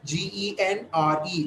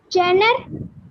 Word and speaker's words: genre: Genre. Very good. Deva Priya. Soluma. Try ma. Jenner. Jenner is wrong. It's wrong.